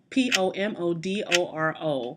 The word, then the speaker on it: pomodoro: looked up the pronunciation p-o-m-o-d-o-r-o and i looked it up because i want to know how to say it in italian okay i didn't want